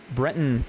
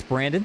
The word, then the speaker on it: Brenton: And I think earlier I pronounced Brenton as Brandon, so I apologize for that.